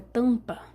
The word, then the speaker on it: tampa: a separação fonética disso na palavra tampa apesar de ter o m aqui esse M me desculpa mas ele não é pronunciado cara é uma decepção